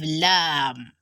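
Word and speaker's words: لام: is a consonant letter it is pronounced from the thunk that means it's a similar to letter l yeah exactly the way you pronounce l is the way you pronounce your letter lamb so it's similar to early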